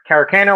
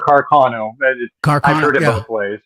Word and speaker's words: Carcano: there you go yep karakano or carcono I've heard of both ways Jamie says Lee Harvey